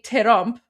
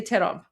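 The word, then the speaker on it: ترامپ: So for example, in English it's trump, which is one syllable, but in Persian we say terump, which is two syllables. Don't ask me why, that's just the rules. We say terump. It's just how it's pronounced.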